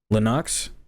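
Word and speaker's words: Lennox: there's nothing different from that airy uh linux linux is how you say this all right all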